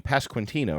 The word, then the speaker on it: Pasquantino: Pasquantino. No, I'm not saying it right either, actually. I corrected you. Pasquantino, right? You do say the QU a little bit there.